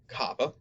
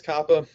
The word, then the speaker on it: kappa: those next we have kappa kappa is very similar to the english k sound as in kitchen and then lambda is